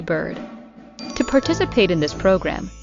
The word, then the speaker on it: Byrd: And of course, like I said, if you are listening or watching me, you can go to Bird on any social media platform. And I should spell that out cuz if you're not watching me